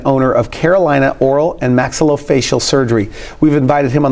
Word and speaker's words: maxillofacial: Maxillofacial surgeon.